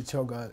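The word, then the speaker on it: ཆོ་ག: By the way, you never use choke unless it's part of a two-syllable word. You see, you say jung choke, but you don't say rabjungi choke. Uh-huh. Never. So it had to be choga, and the person mistyped it.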